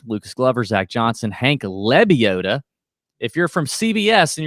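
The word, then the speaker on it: Lebioda: glover zach johnson hank lebiota if you're from cbs and you're listening to this it's not libiota it is lebiota ryan moore dr edmund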